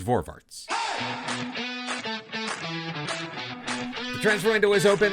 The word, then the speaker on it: Voorwaarts: And if you were to say the word forwards in a heavy Dutch accent, well, it would sound like the way the word is pronounced. And that is Voorwaarts.